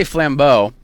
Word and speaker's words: Flambeau: Actually, it's funny you say that because so we say Flambeau. That's the proper pronunciation.